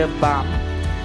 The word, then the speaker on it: balm: त्याच्या पुढचा शब्द बाम, स्पेलिंग लक्षात घ्या BALM. जरी एल त्याच्यात असलं तरी एल सायलेंट, उच्चार बाम.